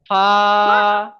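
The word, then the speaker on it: فاء: ফাটা মুখটা ছেড়ে পড়বেন, ফা। এই দাঁতের আগা, দাঁতের আগা, ঠোঁটের নিচের ঠোঁট ঠেকান, ফা, ফা, ফা।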